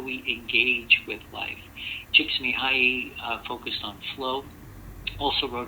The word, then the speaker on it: Csikszentmihalyi: to take a whole course on how to pronounce his name, so I'm going to say it again. Mikhail Csikszentmihalyi and Robert Vallerand are 2 people that talk a lot about how we engage with life. Csikszentmihalyi focused on flow, also wrote a book back